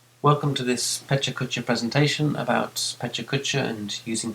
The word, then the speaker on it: pecha-kucha: Outside of Japan it's often pronounced pecha-kucha, but I'll stick to the Japanese pronunciation of pecha-kucha. Pecha-kucha was started by two Tokyo-based architects, Klein and Dynam, in 2003.